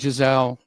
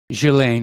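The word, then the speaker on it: Ghislaine: about jeff epstein now we all know about giselle or whether the slain maxwell rather jillaine maxwell however it's pronounced here apparently there's another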